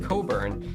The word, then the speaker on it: Cockburn: Fun fact, cockburn is actually pronounced cobburn. So it's really you that has the dirty m. Why does it have a silent ck?